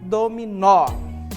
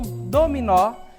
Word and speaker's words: dominó: aqui olha só dominó certo então a gente diz que o mó é a sílaba tônica da palavra certo continuando as demais